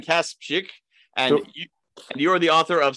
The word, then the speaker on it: Kasprzyk: today's guest is let's see if i can pronounce your last name right cass chick perfect all right let's hear you pronounce it i kaspick and you're the author